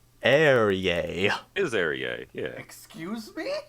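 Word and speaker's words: Ehrye: How do you pronounce his name? Eerie, I always Eerie.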